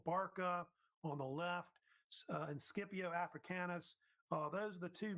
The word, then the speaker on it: Scipio: And Scipio Africanus, sometimes pronounced Scipio, was really the main